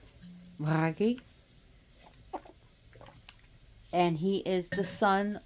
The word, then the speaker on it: Bragi: on the godi uh if you can't roll your RS it'll be brgy but his RS are rolled Bry and he is the